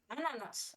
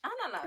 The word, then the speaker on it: ananas: Oh, so I use the other A, not the American English A.